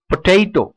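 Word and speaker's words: potato: ஸோ பொட்டேட்டோ அப்படின்னு கிட்டத்தட்ட நம்ம ஓரளவுக்கு கரெக்டாக ப்ரொனவுன்ஸ் பண்ணுறோம், but exact pronunciation பொட்டேட்டோ, பொட்டேட்டோ. அந்த நடுவில் இருக்கிற சிலபிள் வந்து நம்ம டேன்னு சொல்லக்கூடாது, டெய். ஸோ பொட்டேட்டோ three syllable word.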